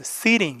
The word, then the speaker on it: sitting: 사의 강사 앞에 있으니까 팅이 아니라 뭐라고 발음했을 seing 이렇게 발음 했으니까 그것도 정리를 합니다 그래서